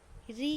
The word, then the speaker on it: ऋ: तो अब हम पढ़ेंगे इसके आगे री का प्रयोग। तो देखिए, री एक स्वर है, परंतु हिंदी में इसका उच्चारण री की तरह होने लगा है।